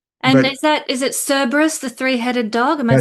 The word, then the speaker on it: Cerberus: And is that is it Cerberus, the three-headed dog? Am I saying it That's right. Cerberus or Kerberos as the the Romans would pronounce it with a hard C, but we usually say Cerberus or Kerberos.